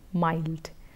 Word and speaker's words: mild: so tender and mild so between child and mild so if someone you the aspect of helping someone to tell them that mi LD somewhat rhymes with child mild that's how you would help them in MI LD pronounced so you can help them by telling them that it rhymes with the word child numbers are another choice